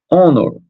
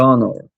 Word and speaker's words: honor: Não foi pronunciado esse H.